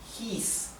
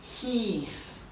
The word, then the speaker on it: hieß: En alemán la I con la E, que siempre no me canso de repetir lo mismo, la I con la E se pronuncia como una I larga. I. Hieß.